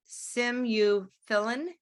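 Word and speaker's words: simufilam: you ever heard of and I'll try to pronounce this simu philan s-i-m-u-f-i-l-a-m which is now in phase three trials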